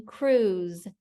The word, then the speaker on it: cruise: What's the last sound you hear in cruise? Z, z. It kind of sounds like it's going to be a Z, but it's not. It's S and E, making that Z sound at the end of cruise.